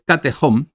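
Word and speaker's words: katechon: conscientes de ello bien el término griego de catom debe castellanizar y como tal y como y pronunciarlo tal y como yo lo estoy haciendo Y es eh Y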